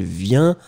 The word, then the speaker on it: vient: Je viens, with the S, tu viens, with the S, il, elle, vient, with the T. So remember, final S won't be pronounced and final T won't be pronounced.